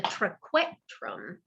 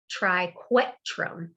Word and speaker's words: triquetrum: a carpal called the trequetrum it's not k triquetrum it's a weird pronunciation but there you are okay is just behind